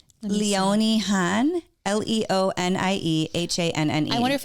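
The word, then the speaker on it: Leonie Hanne: You say it like this. Leonie Han.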